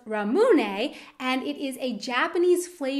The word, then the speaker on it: ramune: It's pronounced ramune, and it is a Japanese flavor of soda and also a popular candy flavor.